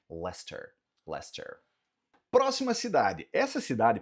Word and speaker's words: Leicester: Então, Leicester Square serve para o espaço em Londres também, mas a cidade é chamada de Leicester.